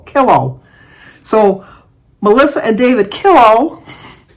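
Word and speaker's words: Killough: Thankfully, Melissa told me to pronounce it as pillow, but kilo.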